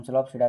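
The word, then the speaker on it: Psilopsida: स्लोपसिडा, इसमें P silent होता है आपका, तो इसे हम स्लोपसिडा कहते हैं।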